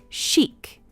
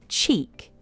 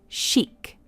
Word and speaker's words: chic: It's pronounced as chic. We don't say cheek, it's chic.